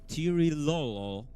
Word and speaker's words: Tirilolo: The name of the third player is actually Tirilolo.